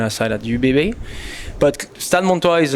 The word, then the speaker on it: Stade Montois: Yeah, so it's funny because you say Stade Montis, and this is Stade Montois.